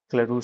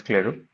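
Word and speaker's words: Clairaut: So this is where we have Claroux theorem. Not sure if I'm pronouncing the name correctly. I think it's pronounced as Claroux.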